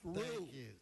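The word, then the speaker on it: Ryu: R-Y-U pronounced Rue.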